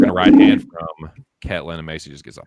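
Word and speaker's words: Ketlen: Who, Caitlin? No, Maycee. It's Ketlin, dude. Don't mispronounce her name.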